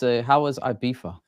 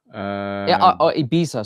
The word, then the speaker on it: Ibiza: And we had Martin was in Ibiza, and I think Patrick has taken some inspiration out of Martin's travel book and made his way over to LA.